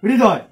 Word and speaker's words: হৃদয়: তাহলে এই এই হয়রির উচ্চারণটা হচ্ছে হয় র ফলা, অর্থাৎ র ফলার একটা কিন্তু উচ্চারণ এসে যাচ্ছে, হৃদয় হৃদয় হৃদয় হৃদয়, এরকমটা এক উচ্চারণ।